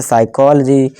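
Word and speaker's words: psychology: यहाँ देखिए पी के बाद एस आ गया तो इसे साइकोलॉजी। इसी तरह से रिसीप्ट नहीं, पी साइलेंट है, रिसीप्ट, ठीक है दोस्तों।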